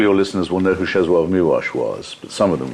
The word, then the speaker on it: Czesław Miłosz: That's so you actually pronounce, it's spelled Czesław Miłosz, but it's pronounced Czesław Miłosz.